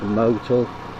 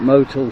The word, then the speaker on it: Motul: At this time I decided to go with the more expensive oil, and I put Motul, I think that's pronounced Motul, I put Motul 7100 in.